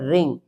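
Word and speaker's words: wring: अगर कोई वर्ड अगर स्टार्ट होता है डब्ल्यू आर से तो उन वर्ड्स में डब्ल्यू लेटर साइलेंट रहेगा।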